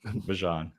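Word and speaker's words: Bijan: Is it Bjon? I want to make sure I'm saying it right. Bjon.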